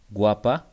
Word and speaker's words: guapa: For example, when we have A, guapa, we pronounce the U.